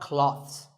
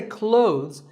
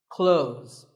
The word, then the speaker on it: clothes: what's silent here well first of all this word is not cloths when we say clothes the th in the middle can often be silent close but it's not wrong if you say these letters with a the sound clothes that's also correct in some words people